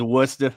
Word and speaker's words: Worcester: By the way, do we not pronounce the first R kind of like Worcestershire sauce or whatever? Like, is it Worcester? No, I think it's Worcester. I think it's a Boston guy. Yeah, it's Worcester.